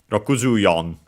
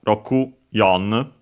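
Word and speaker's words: 六十四: So Rokuju yon would be accented on the yo, Rokuju yon.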